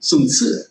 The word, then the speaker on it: Sun Tzu: And the wise warrior avoids the battle, Sun Tzu, or Sun Tzu, as you're supposed to pronounce it.